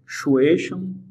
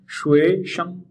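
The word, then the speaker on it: 学生: The word for student शुएशम शुएशम। दोस्तों आप tone पे नजर रखिएगा और अपने आप को बताते चलें कि कौन सी टोन हम यूज कर रहे हैं, सेकंड टोन शुएशम शुएशम।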